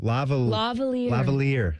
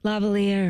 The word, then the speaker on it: lavalier: Lavalier. Lavalier.